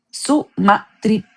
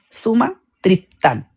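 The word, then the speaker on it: sumatriptán: Sumatriptal. Eso para pronunciarlo bien. Sumatriptan.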